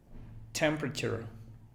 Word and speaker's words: temperature: Temperature. Alguien diría temperature, no. Temperature. Es otra de temperature. 4 sílabas, quedan 3. Temperature. No es pra, sino pr. Temperature.